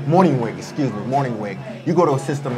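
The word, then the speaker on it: Mornhinweg: And Marty Morningwig, is that how you pronounce his name? Morningwig.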